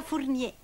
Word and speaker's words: Fournier: Si pronuncia Fournier.